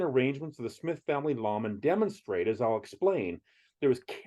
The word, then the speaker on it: lamen: Well, a lamen, not to be confused with nor pronounced like layman in the Book of Mormon, is a sacred image